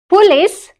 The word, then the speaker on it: police: How do you pronounce it? Police.